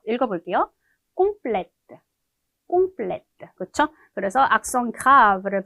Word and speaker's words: complète: 얘를 여성형으로 만들어줄 때 발음을 해주기 위해서 자음을 하나 더 붙일 것 같은데 그렇게 하지 않고 얘는 오히려 악성을 붙여주면서 마지막에 을을 붙여주고 이렇게 해서 발음을 바꿔줘요. 읽어볼게요. complète, complète, 그렇죠?